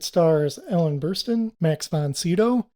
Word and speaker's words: Sydow: So it stars Ellen Burstyn, Max von Sydow. That's the way I'm going to pronounce his last name because everybody says it different. And I had a friend in elementary school whose last name was Sydow.